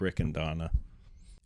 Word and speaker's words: Riccadonna: Like I always tell MC's like it's just say three first names, blend it together. Mark, Rick, and Donna.